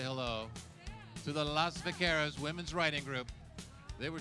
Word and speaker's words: Las Vaqueras: I said Las, not Los.